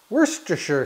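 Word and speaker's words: Worcestershire: - you're sure do you know how to pronounce this stuff worse - sure sauce it's absolutely delicious and I wish you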